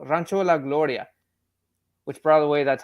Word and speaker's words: Rancho La Gloria: about the whole uh what is it called rancho la gloria which by the way that's how you pronounce that but it's cool uh it's it's